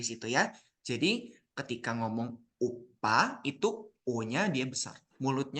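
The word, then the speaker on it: 오빠: Jadi kalau yang uppa, lihat mulut Sam. O-nya itu dia monyong ya. Uppa.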